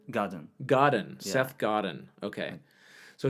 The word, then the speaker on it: Godin: Godin what's that says god Seth Oh Seth Gordon Godin Godin Seth Godin okay so it's a process for mispronouncing that's okay yeah that book is fantastic